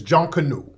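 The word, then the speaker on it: Junkonoo: might have heard of junk canoe have y'all heard of John Canoe how you spell it j-u-n-k-o-n-o-o you spell it different ways but the pronunciation is John Canoe now John Canoe it's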